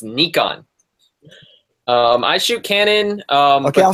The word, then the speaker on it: Nikon: It's pronounced Nikon.